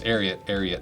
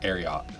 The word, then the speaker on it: Ariat: One of my favorite facts is they're named after Secretariat. And that's how you pronounce the name. Because if you pronounce Secretariat Ariat, pronounce Secretariat, you pronounce Ariat, not Ariat.